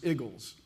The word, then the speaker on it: Eagles: We have at least one Eagles fan on the lace. Well, see, I grew up saying Eagles, but I come to find out the word apparently is pronounced igles if you're from there.